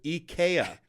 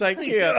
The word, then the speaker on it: IKEA: me was offended when they called it Eaya instead of IKEA. I was like, I'm pretty sure it's IKEA, unless I've been saying it wrong.